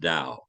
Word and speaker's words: Tao: book is called the Dow of sales it's spelled Tao it's pronounced Dao not to Dao sales